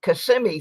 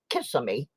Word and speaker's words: Kissimmee: And Kissimmee, Florida, which people always pronounce Kissimmee.